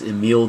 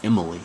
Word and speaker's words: Emile: The next sociologist is Emile Durkheim. That's not pronounced Emily, by the way.